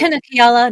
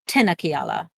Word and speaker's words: TinaKiala: I am So- TinaKiala, not Tina. TinaKiala.